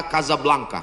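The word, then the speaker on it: Casablanca: Hasan dua di Kota Kasablanka Hai ibukota Maroko tempat saya kuliah nama negaranya Maroko ibukotanya tulisannya casablangca cara bacanya Kadzab langka Kaza artinya rumah Blanca artinya putih Kasablanka rumah warna putih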